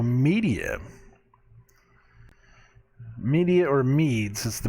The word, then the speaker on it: Medea: It's spelled Medea, but it's the word, it's Media, it's where it comes from.